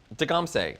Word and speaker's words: Dagamseh: It's just It rhymes. doing the dishes. It rhymes. It rhymes with Beyonce. That's Dagamseh.